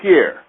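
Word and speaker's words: Peer: She was playing against a small hat named Pierre. It's spelled P-E-E-R, another small hat name.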